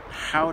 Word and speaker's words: Gouda: yeah this is the downtown Gouda which apparently they pronounced how that we've been saying it wrong forever but I mean